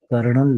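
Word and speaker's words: colonel: जर अस स्पेलिंग लिहिलं तर र उच्चारामध्ये दिसत कर्नल पण कर्नलच स्पेलिंग जर पाहिलं तर त्याच्यामध्ये कुठेही तुम्हाला आर दिसत नाही कोलोनेल असं दिसत आणि बोल बोलताना मात्र कर्णल लिहिलं जात बरं हे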